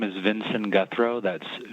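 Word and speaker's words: Guthreau: they begin uh yes my name is vincent guthro that's spelled v like victor i-n-s-o-n last name guthro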